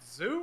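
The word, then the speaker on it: Zou: Is it Zoo or Zoe? It's Zoe. Zoe. Okay. Yeah. But it's supposed to be like, it's supposed to make you think of Zoo.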